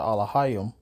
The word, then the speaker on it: Elohim: image of the Most High, which is the Elohim.